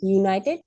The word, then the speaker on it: United: United States Senator why because a letter U do you remember but this letter is not being pronounced as the same sound as Vel U pronunciation SP okay can